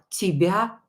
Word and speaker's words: тебя: Е not stressed, pronounce it as E.